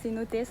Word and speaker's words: cenotes: avec moi c'est parti on dit c'est noté s en espagnol puisque du coup un espagnol toutes les lettres se prononce et du coup laissé